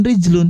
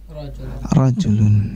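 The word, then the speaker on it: رَجُلٌ: dengan rijlun tetapi nanti kalau seandainya harokatnya dihilangkan dan Antum memaksudkan laki-laki dewasa makanya Antum baca bukan rijlun tetapi rojulun ya Sekali lagi ya hihihi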